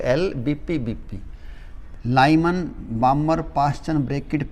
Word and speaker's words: Balmer: देखो यहाँ पे हमने लिख दिए बामर, BALMER, इसमें L साइलेंट होता है, बामर बोल दिया करो।